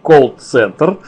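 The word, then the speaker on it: колл-центр: элемент - это Ну правильно по-моему говорить кол-центр Да но мои приятели почти все прикалываются и произносят это слово через букву А вот получа получается своеобразно и смешно но тем не менее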